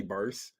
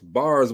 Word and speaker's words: Barz: Don't say Barz. It's Barz with a Z, y'all.